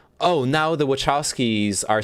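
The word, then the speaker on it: Wachowski: um this interview hello Lily wowski here wowski that's how you say it okay I'm glad that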